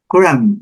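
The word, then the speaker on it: crumb: Cram, a migalha é a mesma coisa, a combinação.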